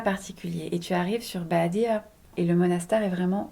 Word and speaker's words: Badija: Badia, ça s'écrit Badija. Badia.